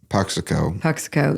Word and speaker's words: Puxico: And then solo career, you've put out a record in 2017, and I don't know how to pronounce it. Puxico, yep.